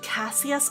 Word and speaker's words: Cassius: And I think you usually pronounce it Cassius.